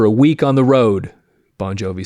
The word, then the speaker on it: Bon Jovi: I got fired unquote so he became John bonjovi because that's how his last name should be pronounced and often wasn't and got into a